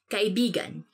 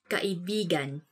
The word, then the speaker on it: Kaibigan: this word, because like, you have to say it like this. Kaibigan. Kaibigan. Because kaibigan means friend. But when you twist it a bit and say it like this, kaibigan. Kaibigan. That's kind of, it's not really a natural way of saying it, but it actually means lover.